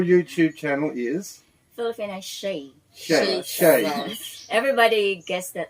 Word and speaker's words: Shay: Shay. Everybody gets that mispronounced. Yeah, Shay.